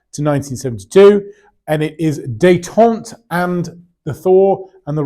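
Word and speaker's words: détente: takes us up to 1972 And it is dayon and the Thor and the role of China it is pronounced dayon not detente as someone has said before to me dayon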